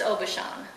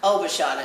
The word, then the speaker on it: Aubuchon: Witnesses in my attorney what's the correct way to pronounce your last name it's Aubuchon Aubuchon it's not out Aubuchon it's oh but Shawn